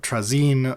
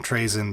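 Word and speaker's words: Trazyn: with Trine the infinite so trazine or as we call him Traen because we're lazy and can't pronounce [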